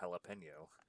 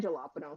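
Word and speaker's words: jalapeño: realize that the um it's a soft J in the Spanish language that makes the H sound. Yep. Which you'd think that I know that because um one of my favorite fruits is the jalapeno.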